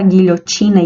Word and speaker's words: guilhotina: ss assassinato assadura classificado o fonema g u onde u não é pronunciado então temos um com um dígrafo consonantal guerra guilhotina guia não pronunciamos a letra u quebrar quilo e quintal